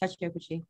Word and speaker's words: Kechi Okwuchi: I hope I'm pronouncing your name well. Kechi Okwuchi. yeah, you are Kechi. Yeah, you got it. Perfect. Kechi Okwuchi.